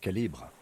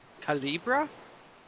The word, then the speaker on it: calibre: The right type and the right calibre. Calibra? Kim, that was a strange pronunciation.